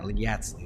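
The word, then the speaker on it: Yatzli: I'm aware, Yatso. Yatsley? Yeah, Yatsley, that's how you say it.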